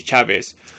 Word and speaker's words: Chavis: It should be Chavis.